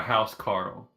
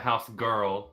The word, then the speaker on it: Huskarl: Our house Carl. a Huskarl? House Carl, not house girl.